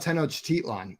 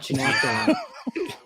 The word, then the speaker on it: Tenochtitlan: No, in fact, we are. We're not. Nope. No, we're talking about Tenochtitlan, not Tenoctitlon. Tenochtitlans.